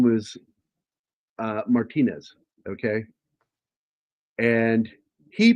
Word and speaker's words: Martinez: You don't have to roll it, but pronounce it close to the name Martinez. Uh, it's not Martinez.